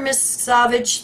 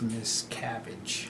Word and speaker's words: Miscavige: able to locate Mr Miss Savage the Bay Times reports I think that's pronounced Miss cabbage Miss cabbage yeah Neil